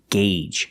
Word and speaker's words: gauge: And remember the pronunciation, gauge. Use the long A sound.